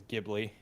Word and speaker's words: Ghibli: I believe the actual pronunciation is Ghibli.